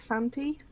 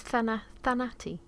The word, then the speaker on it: Thanatos: Uh, yeah, so honestly, I'd probably call that Fanti. Oh, okay. Well, it's Thanati.